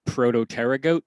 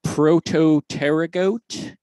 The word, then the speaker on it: Protopterygote: the word the story is is called the prototerra goat tapes so that's prototerra goat which is spelled very oddly and you know what i